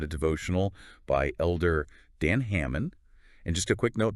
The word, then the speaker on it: Hammond: devotional by Elder Dan Hammond and just a quick note that's pronounced Hammond not Hammond great hamon so if